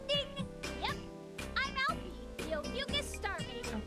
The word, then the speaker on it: Ophiuchus: Yep, I'm Alfie, the Ophiuchus Star Maiden. Is that how they're pronouncing it?